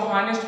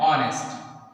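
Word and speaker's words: honest: हॉनेस्ट नहीं होता है, बहुत से बच्चे इसको हॉनेस्ट पढ़ते हैं ना, अब इसके प्रोनाउंसिएशन के हिसाब से तो यही लग जाएगा, लेकिन इसका शुद्ध प्रोनाउंसिएशन है ऑनेस्ट, ऑनेस्ट, ऑनेस्ट person, he इज ऑनेस्ट person.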